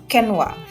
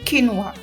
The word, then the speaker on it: quinoa: yang disajikan termasuk palavel kenwa kenwa itu quinoa ya Jadi dibacanya itu kinwa atau kenwa kinwa ini ada yang